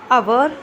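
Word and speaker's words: hour: है हम और एक आवर एक मिनट अवर इसका मतलब मतलब होता है क्या इसमें एच साइलेंट है किसमें इसमें एच साइलेंट है है ना और आवर पढ़ेंगे इसको ठीक है आगे देखते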